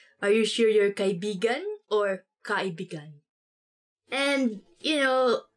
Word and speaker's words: Kaibigan: this word, because like, you have to say it like this. Kaibigan. Kaibigan. Because kaibigan means friend. But when you twist it a bit and say it like this, kaibigan. Kaibigan. That's kind of, it's not really a natural way of saying it, but it actually means lover.